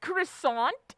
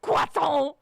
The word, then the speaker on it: croissant: when people are like it's not pronounced croissant it's pronounced qu and I'm like what the is wrong with you are you speaking French no you're speaking English and when you speak English you pronounce it croissant